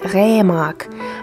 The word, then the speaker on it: Remarque: erich maria hammer sondern erich paul remark mit der betonung auf dem re er kam am 22